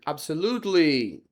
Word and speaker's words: absolutely: Aí o com certeza vai ser absolutely. Absolutely. Desse jeito mesmo. Tá bom? Porque o lu é o mais é a sílaba tônica.